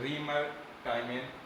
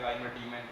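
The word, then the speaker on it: Reimer–Tiemann: क्या है, क्या कहते हैं रीमर टाइमेन अपक्रिया। ठीक है, वैसे कभी कभी लोग पढ़ते हैं राइमर टीमन अपक्रिया, तो प्रोनाउंस जो जिस तरीके से करते हैं, लेकिन हिंदी में इस तरीके से लिखा है, इंग्लिश में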